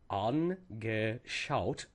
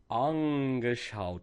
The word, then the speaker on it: angeschaut: And as we do this, we need to pronounce each part independently. So when we see this word, angeschaut, we look at the angeschaut as three separate parts, not angeschaut.